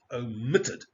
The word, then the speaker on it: omitted: admit or admitted right omit omitted you see the stress in this case on the second syllable the second syllable so it's omitted and you double the